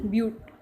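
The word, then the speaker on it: but: ये बट नहीं है, इट इज़ ब्यूट।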